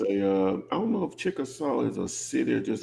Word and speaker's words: Chickasaw: okay it's uh 404 West chcka West what Chickasaw Trail Chickasaw yeah chcka Trail how you spell that uh c h i c k a